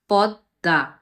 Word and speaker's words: পদ্মা: ম ফলাটি যুক্ত হয়েছে সেই বর্ণটি দ্বিত্ব অর্থাৎ ২ বার উচ্চারিত হবে। এবং ম যেহেতু অনুনাসিক ধ্বনি সেহেতু দ্বিত্ব উচ্চারণের ক্ষেত্রে শেষে যে উচ্চারণটি হচ্ছে সেই উচ্চারণটি সামান্য নাসিক্য প্রভাবিত হবে। যেমন পদ্মা।